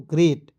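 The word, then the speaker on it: great: याद रखना है कि जब दो भवेल एक साथ होते हैं तो एक भवेल को आप कैंसिल कर दीजिएगा काट दीजिएगा और एक ई का उच्चारण एक एकले के रूप में कर देंगे क्या हो जाएगा दोस्तों ग्रेट ठीक है ग्रेट होता है और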